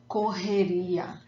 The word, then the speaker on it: correria: we use a lot, correria. And pronunciation tips, see when you have the two R's, the double R in Portuguese sounds like the H in English. So let me read this word again, correria.